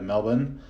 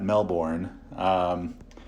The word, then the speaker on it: Melbourne: 45 minutes outside of Melbourne notice any Australians listening I hope you I hope you appreciate that proper pronunciation of Melbourne not Mel born yeah I got to